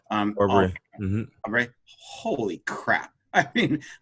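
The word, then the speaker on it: Arbery: Aubrey, how do I pronounce his name? Aubrey.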